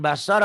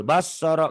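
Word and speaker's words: بصر: ah Boleh silakan Bismillahirrahmanirrahim jangan B jangan basar kalau basar Berarti ada tasjid baso cepat Pak ustaz ya enggak ada dobel enggak ada dobel Kalau Bu Kan barusan dibacanya dobel basoro kalau basar berarti dobel Jangan dibaca dobel He basor iya basor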